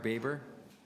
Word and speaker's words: Baber: Spadina subway extension we have one Deputy Roman baber is it baber baber baber yes sir yeah you're uh sir for your